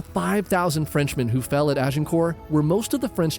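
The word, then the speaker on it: Azincourt: Ita actually pronounced Azenor battle of Aenor.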